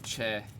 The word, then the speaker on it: Choi: Or if I'm pronouncing it in the way it's pronounced or supposed to be pronounced, Eric Y. Choi. Somewhere in the localization of the last name Che, it got turned into Choi.